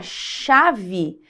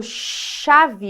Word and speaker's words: chave: a v e e só que quando você pronuncia chave veja que esse ch aqui eu não vou pronunciar letra C letra H sozinha a gente pronuncia como se fosse um som de X então quando eu falo chave eu tenho chave nós temos quatro fonemas